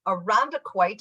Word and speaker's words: Irondequoit: So this morning, our office spotlight is with Chuck from Irondequoit.